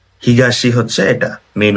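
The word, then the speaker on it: 東: তো এটার মেইন উচ্চারণ হচ্ছে হিগাশি, হিগাশি হচ্ছে এটা মেইন উচ্চারণ, ঠিক আছে।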